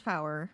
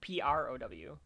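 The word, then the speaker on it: Prower: will take miles Tales power prow r p r o w because it's prow miles Tales prow there you go I I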